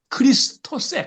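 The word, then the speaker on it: Χριστός: 그리스도 그리스도 영어로 보면 크라이스트지 영어로 크라이스트인데 사실은 헬라어로 그리스으로는 크리스토스 크리스토 요렇게 돼 있어요.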